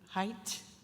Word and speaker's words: Haidt: Revenons à la thèse de, je vais le prononcer comme il faut, Haidt.